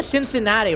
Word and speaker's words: Cincinnati: I do also no it definitely Cincinnati right it's like a soft SE because somebody here can't